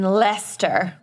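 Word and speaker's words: Leicester: systems and they were based in leester which is spelled liester wor wor wor Worster sauce but the company was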